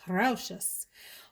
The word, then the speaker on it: Rochas: Thank you to my friend Marshall's Blend Fragrances here on YouTube for the correct pronunciation of the house, Rochas.